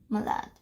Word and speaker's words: malade: for malade you say malade. And see over here there's an E, so that is why you pronounce the D, the.